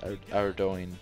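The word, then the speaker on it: Ardougne: Next is Ardoin, and yes, it is pronounced Ardoin. I just call it Ardugan.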